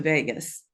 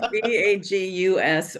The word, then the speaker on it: vagus: And it's not going to Vegas. That's not, No. it's VAGUS, or sometimes it's spelled VAGAS.